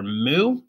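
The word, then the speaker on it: mu: you see there is called a lowercase Greek letter moo it pronounced like a cow goes moo and when you write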